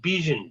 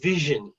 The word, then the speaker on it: vision: the front of the the pronunciation sounded like B was being used so it sounded like vision vision so it should be vision musician okay let's see